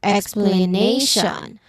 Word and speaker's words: explanation: So in explanation the syllables are explanation. We hear the same stress on a not on t. That's because tio n is never emphasized.